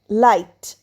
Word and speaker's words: light: Next comes লাইট। এল আই জি এইচটি। লাইট। এখানেও দেখো জি এইচ পাশাপাশি আছে। তাই জি এর উচ্চারণ হবে না।